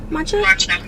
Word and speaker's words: matcha: Matcha? Matcha.